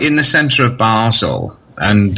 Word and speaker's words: Basel: But the Swiss people call it Basel, so...